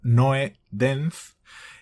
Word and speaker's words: Nodens: los nodens, eh, y aclaras pronunciado, Noe denz, eh, de 1926 también.